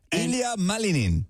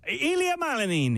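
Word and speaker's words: Ilia Malinin: Ilia Malanin. Ilia Malanin.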